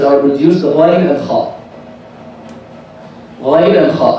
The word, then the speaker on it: Ghain: So the ghain is like the Parisian ra, exactly.